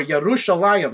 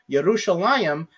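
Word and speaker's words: ירושלים: The word Jerusalem in Hebrew, Jerusalem, or Yerushalayim, I should say. Yerushalayim, it's a dual ending at the end of it, but we don't call it two Jerusalems.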